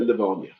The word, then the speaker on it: Lavonia: Cuz you said Lavonia. When you were in New York, you'd have pronounced that Levonia. I know, but people from Lavonia have told me it's called Leavonia.